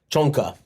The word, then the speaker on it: Csonka: Like players like Larry Zonka, Csonka, would be like how you pronounce it.